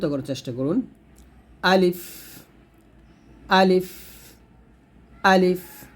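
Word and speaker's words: ألف: চেষ্টা করুন আলিফ আলিফ আলিফ টান দিবেন দেখুন লাস্টে কিন্তু এখানে ফ আসছে পয় কিন্তু না আমরা অনেকে আলিফ বলি এটা না বলতে হবে আলিফ বা বা তারপর হচ্ছে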